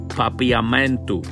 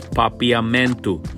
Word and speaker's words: Papiamento: language of croissant people is papayamento i don't know if i'm saying it right but it's papiamento but you can always